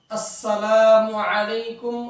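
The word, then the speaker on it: السلام عليكم: বেশি বেশি সালাম দেওয়া আসসালামু এই শব্দের হামজা এবং মিমের পেশকে স্পষ্ট করে উচ্চারণ করা যেমন আসসালামু আলাইকুম ওয়ারাহমাতুল্লাহি ওয়াবারাকাতুহু নাম্বার দুই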